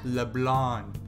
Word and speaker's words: Leblanc: I always think about it as LeBlanc, but when they pronounce it in the game, it's LeBlanc. You know, because it's French or whatever.